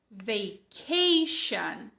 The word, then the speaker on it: vacation: Não é o som de tch, como em tchau. É o som de sh, como em xícara. Beleza? Então, repete aí comigo. Vacation.